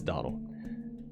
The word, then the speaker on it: Domhnall: I said Domhnall. I say that so I can spell it, but it's Donald.